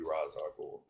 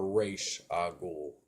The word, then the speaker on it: Ra's al Ghul: He doesn't need to be Ra's al Ghul. Or Raish al Ghul, to pronounce it, the right way. It's Raish. Raish.